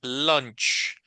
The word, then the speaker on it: lunch: esta esta u en inglés no suena como u como lunch verdad sio suena como una mezcla entre o verdad como si fuera una o más o menos lunch lunch eand and muy bien